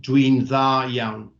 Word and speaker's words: dwi'n dda iawn: So 1D becomes 2 Ds in this instance, and it's pronounced dwi'n dda iawn.